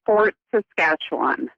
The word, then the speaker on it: Fort Saskatchewan: How do I pronounce where you live again? So it's Fort Saskatchewan.